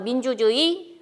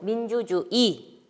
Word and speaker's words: 민주주의: 첫 번째 오는 첫 음절이 아닌 의자는 이로 발음할 수 있습니다.